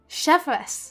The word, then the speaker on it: Chevreuse: know their captain, Chevreuse. Chevreuse. That's how you say it.